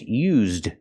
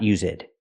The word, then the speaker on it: used: by the waitress and I'm not sure if she's saying us it and mispronouncing used or if she's saying use it either way it's not correct we have to say this one is used pronunciation we have to say used this one is used